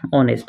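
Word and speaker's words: honest: ঠিক তাই কই তিন নম্বর ইয়াতে কি আছে অনেস্ট অনেস্ট মানে হরল বা হততা বা হাডু ইয়াতে এইচ টু কি হবে সাইলেন্ট যাব উচ্চারণ করিবো না লাগে হেই কারণে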